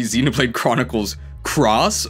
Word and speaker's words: Xenoblade Chronicles X: Xenoblade Chronicles x uh in Japanese you actually pronounce it as cross so it would be Xenoblade Chronicles Cross or Monster Hunter cross